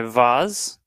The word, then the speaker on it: vase: Let me pour it in my vase. That's how you say it, right? Vase. Is it I believe vase, it's vase, or pronounced vase? Vase. Vase. Vase It's not- or vase? Vase. Vase. It's like maize.